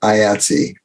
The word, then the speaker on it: IATSE: reading it on the internet, IATSE, but it's pronounced IATSE.